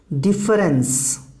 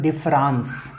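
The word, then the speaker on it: différance: अच्छा देखिए, इसको अलग करने के लिए लोग प्रोनाउंस करते हैं डिफरेंस, है ना, लेकिन जैसा विकिपीडिया बताता है वो कहता है कि नहीं, इसमें डिफरेंस नहीं है, दोनों का प्रोनाउंसिएशन एक ही है, आपको स्पेलिंग में अंतर समझना होगा। This is like homophones.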